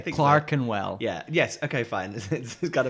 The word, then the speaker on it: Clerkenwell: like the walkability of clerkenwell Clark andwell oh is that how you pronounced it yeah okay Clarken well yeah yes okay fine